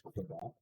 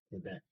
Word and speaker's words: Quebec: Okay, so English speakers would tell you it's Quebec. French speakers would tell you it's Quebec.